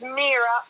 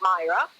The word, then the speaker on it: Mira: When you send out the dividend checks, especially when they're big amounts, my name is Mira. It's pronounced Mira, not Myra.